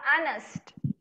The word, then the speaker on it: honest: Oke, bacanya itu yang benar adalah honest.